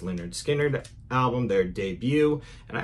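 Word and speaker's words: Lynyrd Skynyrd: my copy of uh linard Skinner's pronounced Leonard skinnard album their debut and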